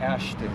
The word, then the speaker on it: Ashton: Ashton? Ashton, yeah.